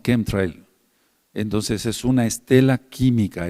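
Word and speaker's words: chemtrail: Entonces, muchos no le dicen shems tril o trail, sino kem trail.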